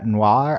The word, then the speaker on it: noir: Okay, but then they run back into each other, and Ladybug says, "Chat noir." I'm trying to figure out how they pronounce noir in French. Like noir, it's like one syllable.